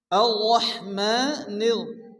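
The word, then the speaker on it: الرحمن: আর-রহমানির, এখানে র পুর করে মোটা করে উচ্চারণ পড়তে হবে।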